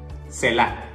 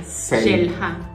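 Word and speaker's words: Xel-Há: Aquí se diría Shelha. Shelha. O sea, la H la es como J. Entonces sería Shelha.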